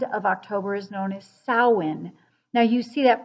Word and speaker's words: Samhain: at the end of october is known as samhain now you see that pronounced or spelled as samhain s-a-m-h-a-i-n and sometimes people have pronounced doing sam hayne it's a way it's a way of saying